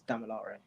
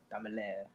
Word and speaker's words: Damilare: Just like it's Damilare, not Damilare. Do people call you Damilare? That's crazy. Ooh, they French. That's the most common one because you know the E at the end of English words is silent, so they think that that's how it works, but that's not how.